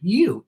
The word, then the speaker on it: ewe: You.